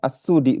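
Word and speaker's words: السدي: Asudi. Nah, memang di sini ada Asudi. Nah, ini ini bacanya Assudi berarti ya.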